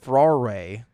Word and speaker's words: furore: it's spelled f-u-r-o-r-e but it's spelled but it's pronounced Ferrari like how the am I